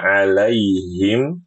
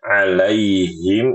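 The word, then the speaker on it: عَلَيْهِمْ: Alaihim ini H-nya H besar. Jangan dibaca alaihim. Alaihim. Ini salah. Alaihim. Ini benar. Alaihim him him him hai. Seperti itu ya. Bedakan suaranya. H besar ha kecil. H besar ha kecil. Alaihim bukan alaihim.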